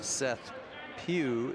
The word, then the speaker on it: Seth Pew: Um, apology to the to the Rabbit City Stevens listeners on pronunciation of number zero, Seth Pew is what coach McClemen said.